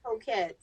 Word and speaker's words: Hokett: name is Hokett. Hokett. All right. Yeah, that'd be messing me up. Hokett.